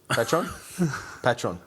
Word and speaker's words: Patreon: Patreon.